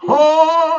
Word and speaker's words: Han: Yeah, that's Han, and it rhymes with Khan from Star Trek 2.